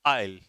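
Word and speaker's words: aisle: पहला है आइल और आइल। देखो, इसे इस नहीं पढ़ेंगे, आइल कहते हैं, इसे एस साइलेंट रहता है तो आइल पढ़ेंगे।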